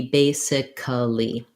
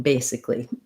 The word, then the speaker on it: basically: it's long short short versus basically is also three syllables even though it looks like it could be basically so what you want to avoid here is that we actually don't say anything for this a in basically basically sounds just more